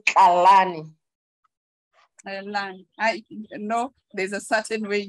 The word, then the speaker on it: Tlalane: thank you yes oh the right pronunciation is Kalani no there's a certain